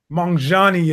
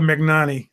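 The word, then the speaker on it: Magnanni: Mangiani is it's pronounced, apparently. I call it Magnani. That's what it looks like to me.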